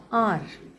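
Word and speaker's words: hour: जैसे कि आर honest इनमें एच जो है साइलेंट है।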